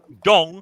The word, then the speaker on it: dong: D Dong. O N G. G. Rhymes with long, but with a D.